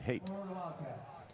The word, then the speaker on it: Haight: So they're pronouncing it Haight on the PA system. Jeff and I were both told Haight. That's what it says on the pronunciation guide, Haight.